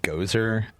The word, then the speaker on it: Gozer: Uh, it's pronounced Gozer the Goerian.